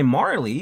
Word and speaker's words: Marle: Joined by Marley, which I pronounce like Marley, but some people pronounce it phonetically as Marl, who knows.